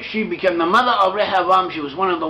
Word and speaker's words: Rehoboam: Actually, sorry, she became the mother of Rehoboam. She was one of the wives of Solomon. And through Rehoboam, or Rehoboam, the name is pronounced, it seems the line